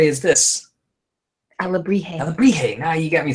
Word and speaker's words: alebrije: So this monkey, whose Aljibre is this? Alebrije.